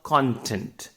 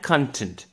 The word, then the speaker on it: content: there's a word called content and content now when i say content it means the ingredients and people say it's content content means satisfaction so the meaning completely changes so i would